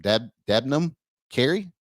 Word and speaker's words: Debnam Carey: Debnam Carey.